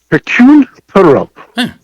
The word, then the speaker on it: Hercule Poirot: Why don't you give us the pronunciation? Hercule Poirot.